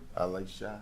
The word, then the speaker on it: AliShah: And how do I pronounce it? I'm going to just say Miss Watson. Miss Watson. AliShah.